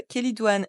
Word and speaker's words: Chélidoine: connaî aussi sous le nom d'herbavrue ou grande kelidoine elle est facilement reconnaissable à ses fleurs jaunes et son latex jauneorangé elle est couramment utilisée en phytothérapie depuis l'Antiquité il faut noter que la kelidoine est une plante intéressante à connaître mais qu'elle